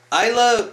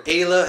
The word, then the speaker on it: Ayla: Isla, or Ayla, however the fuck you actually do pronounce her name. I pronounce it Isla.